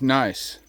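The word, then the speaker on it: gneiss: look at that granitic nice that is what that is and it's pretty nice so but it's spelled g NE I SS so let's go in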